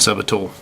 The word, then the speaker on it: subtle: will be nice and subtle. I used to hate that when I played WoW. People would pronounce the B in subtle.